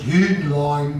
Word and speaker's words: Hühnlein: I think the Germans would pronounce it Hühnlein, but we Americans don't know how to pronounce a U when it has an umlaut over it. And Heinlein was a friend of Hitler's from World War I.